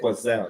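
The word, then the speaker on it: quetzal: steak was was 20 quelle quelle that's how you say it quelle that that t is not pronounced oh okay nice nice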